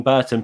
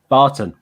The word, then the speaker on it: Barton: put together uh wayne burton put together is it burton or barton barton burton barton that's what i was getting wrong barton wayne burton i've nearly said it wrong again wayne barton has been